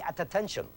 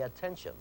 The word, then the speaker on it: attention: There's the double T. You do not say at attention. You say attention. That could be spelled phonetically with just one T. It makes one t sound.